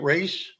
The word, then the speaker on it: Reyes: Is that how you say it, Reyes? Yes.